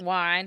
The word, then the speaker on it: yuan: Yeah, or how do you pronounce that? The Chinese dollar. Yuan. Oh, yuan.